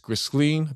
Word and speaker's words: Ghislaine: got victims, alleged victims of Epstein and Ghis- Ghislaine, that's how you pronounce her name, I'm sorry.